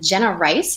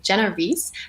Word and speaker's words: Jenna Reese: excited for this um jenna rice she's a healer or sorry i mispronounced her name jenna reese a healer and breathwork